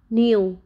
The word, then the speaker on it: kneel: Letter K is silent before N. Let's look some examples. Knee, kneel, knife, not, know, knowledge.